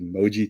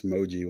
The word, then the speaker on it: Mojee: So, somebody actually asked me how to pronounce Moji one time and I said Jeep without the P.